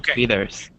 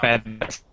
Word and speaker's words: feathers: don't have feathers good feathers or fethers feathers with a short e sound feathers okay good all right